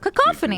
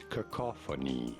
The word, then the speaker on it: cacophony: Cacophony. Cacophony? If you want to stress on the second syllable, the ca syllable. Cacophony. Cacophony, like a Cacophony. cacophony, like you're put in a coffin.